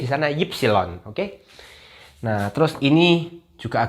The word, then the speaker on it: Ypsilon: Kalau kita bacanya Y, kalau di Jerman bacanya Ypsilon.